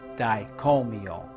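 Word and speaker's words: Dai Ko Myo: use suey master symbol it is pronounced diet call me all practice drawing it and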